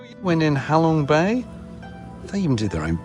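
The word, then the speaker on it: Ha Long Bay: Well, it's not Halong Bay. I'm sorry. It's Halong Bay.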